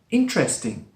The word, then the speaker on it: interesting: A lot of people, when they're learning English, they say interesting. Interesting, with 4 syllables. Sometimes it's spoken like that, yes, but often it's spoken with just 3 syllables. One is dropped, which makes it interesting.